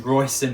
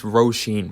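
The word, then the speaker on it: Róisín: And if you don't want to do that, shit, number 15, Roisin Murphy got you with the Roisin Machine. I hope I'm pronouncing her name right. Yeah, you're not at all. It's Roisin Murphy.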